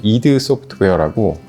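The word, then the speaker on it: id Software: 일을 시작하기 전에 그전에서는 이드 소프트웨어라고 스펠링은 ID 소프트웨어라고 쓰는데 발음 이드소프트웨어라고 하고요 텍사스에 있는 익소프트에서 한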